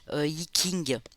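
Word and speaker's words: Yi Jing: Et elle m'a dit ben voilà ça s'écrit J mais ça se dit King.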